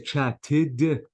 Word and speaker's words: chatted: Notice a chat, I have to say chatted. Again, I pronounce the e because the verb ends with t.